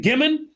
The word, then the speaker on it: Gimon: Is it Gimon? Yes, it is. You got it right. Most people want to make it French.